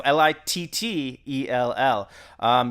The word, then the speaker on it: Littell: That's spelled like Chuck Liddell, except with two T's instead of D's. So Littell.